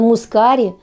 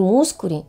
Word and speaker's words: мускари: неправильно мускари Дада именно мускари а не мускури или не мускари уже сама заговорила В общем друзья опять удивлены ли вы что правильное произношение этого слова с ударением на гласную а мускари мускари одни из самых